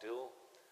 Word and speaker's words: Dougal: It looks like it's spelt Dougal, Loch Dougal, but it's pronounced Doul. It's a Celtic Gaelic thing.